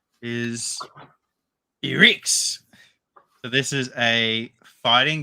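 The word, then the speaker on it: Ehrgeiz: next one that I have learned how to pronounce is he Ricks so this is a fighting game it's a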